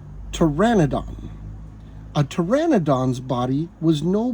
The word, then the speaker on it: Pteranodon: for me to learn this one's tricky because the p is silent Pteranodon a Pteranodon body was